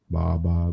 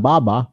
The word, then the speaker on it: baba: But it's not baba. It's baba. Yeah, your, what do you call it? Your intonation or your emphasis. The accent. Matters. The accent matters. The accent is on the second syllable, on the second ba.